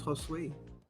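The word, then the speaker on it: Josué: My name's Josue. Wait, it's what? Josue? Josue. Yeah, not like Jose, like everybody says. It's Josue. How do you spell that name?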